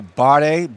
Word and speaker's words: Bare: at the Freshman Abdul bade b-a-r-e spelled like bear like bare knuckles freshman six nine and